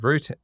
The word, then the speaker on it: routine: Routine. So in the end, No. We know where you're going here. Routine. Emphasis on the second syllable.